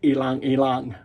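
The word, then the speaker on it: ylang-ylang: lime and ilang elang if you don't know how to pronounce that it's ilang Ilan okay all right I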